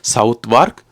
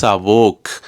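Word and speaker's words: Southwark: தூக்கி போட்டுருவோம் என்று சொல்லி சவுத் வார்க் சவுத் வொர்க் என்று சொல்லி கடைசியா நான் கேள்விப்பட்டேன் அது சவுத் வார்க்கும் இல்ல சவுத் வொர்க்கும் இல்லை அதனுடைய பெயர் வந்து சவோக் சவோக் அதாவது வந்து இங்க சவுத்துக்கு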